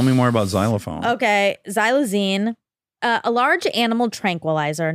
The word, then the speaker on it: xylazine: amputations it is I don't know how to pronounce it but I would try by saying xylazine ooh xylazine spelled x y l a z i NE